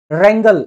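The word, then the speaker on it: wrangle: भांग खाके झगड़ने लगा रंगल रंगल भाई इसमें डब्लू साइलेंट रहता है रंगल का मतलब भी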